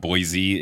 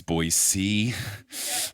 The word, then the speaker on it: Boise: SORRY, I LEARNED YESTERDAY that it's not Boise, it's Boise. I want to make sure I say it properly.